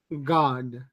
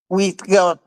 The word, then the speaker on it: God: Posiblemente, si se van a Inglaterra, es muy posible de que el God, como ellos lo pronuncian, suene como una O, God.